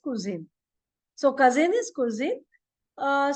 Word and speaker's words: Cousin: u s i n but pronunciation is little different than English it is kin like for recipes we call in English no kuin it is like that so the pronunciation is kuin so cousin is cuin